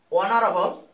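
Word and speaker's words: honorable: উচ্চারণ হয় না, যেমন অনারেবল, এখানে এইচ এর উচ্চারণ হয় নাই, সাইলেন্ট রয়েছে, এখানে ও থেকে উচ্চারণ আসছে অনারেবল।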